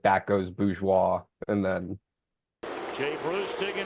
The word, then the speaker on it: Bourgeois: I think it's Bourgeois is how it's It pronounced. is Bourgeois.